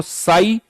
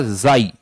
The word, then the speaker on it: psi: इसको PSI spelling तो ये लिखी जाएगी, बट बोला जाता है इसको साई या जाई, साई या जाई दोनों बोल सकते हो आप, ध्यान रखना, ठीक है।